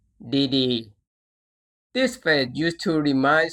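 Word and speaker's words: ดีๆ: For example, this word is read as DD.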